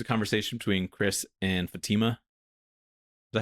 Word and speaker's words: Fatima: But anyway, the entire issue is a conversation between Chris and Fatima. Is that how you say it? Yep. Fatima?